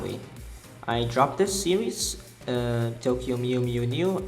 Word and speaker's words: Tokyo Mew Mew New: I dropped this series, Tokyo Mew Mew New. I pronounced it wrongly in my video. I called it Mew Mew Mew. I did not know that there was another N.